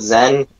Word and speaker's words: Xen: The place is called Zen. Yeah. Isn't Zen like a good thing though? No, because it's Xen spelled with an X.